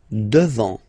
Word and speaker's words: devant: Final T not pronounced. Devant.